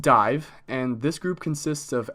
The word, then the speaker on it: Daimh: try so this group dame day i'm that it's pronounced dive gaelic pronunciation who knows they're just doing whatever they want over there but it's pronounced dive and this group consists